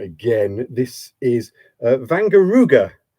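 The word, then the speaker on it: Wangerooge: flag of uh let me just get the pronunciation right again this is vanar ruga It's a German Island would you believe um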